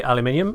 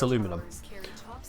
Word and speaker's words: aluminum: in that regard though how do you say aluminium aluminium or how do I say aluminum because you're clearly writing the American word aluminum in much the same way as you wouldn't read bonjour and go oh uh bonjwa CU it's quite clearly a French word you say bonjour when you read it so aluminum when you spell it that way it's aluminum but that's not an